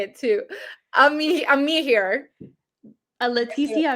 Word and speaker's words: Amihere: Amihere. Leticia Amihere.